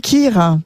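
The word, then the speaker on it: kheer: un petit kir pour Ouais.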